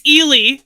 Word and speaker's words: Ely: Um, it's it's Elely. It's Elely. Elely. I'm a bad motan because I said it wrong. I said Eli, didn't I?